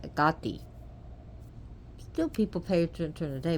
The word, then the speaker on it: Hecate: but night dwelling deity like Hecate which is pronounced agathi still people pay attention